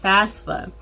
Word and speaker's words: FAFSA: is applying for the fafsa fafsa spelled f-a-f-s-a it sounds a little weird but yeah it's spelled that way so the fafsa or